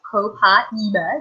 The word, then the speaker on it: Copaiba: And it's actually pronounced Copaiba.